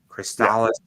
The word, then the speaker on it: Crystallis: I think Crystallis is this, I think, how it's Yeah, pronounced. actually, oh man, you hit that right on the head.